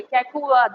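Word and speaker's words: Kaikubad: कैकुबाद, ठीक है, इसका नाम मेरे से कल लिया नहीं जा रहा था, मैंने इसका प्रोनाउंसिएशन देखा, मैंने कहा ओके कैकुबाद है।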